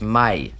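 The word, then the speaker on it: maille: But M-A-I-L-L-E in French is pronounced mail.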